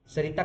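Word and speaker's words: Saritha: टी सरिता एस ए R double E टी एच ए सरिथा सरिता कहना है सरिता कह लो but spelling याद रखना वर्सेस टी टी फॉर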